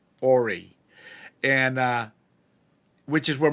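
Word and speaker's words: Horry: in ay County and the H is silent it's h o r r y Orie and uh which is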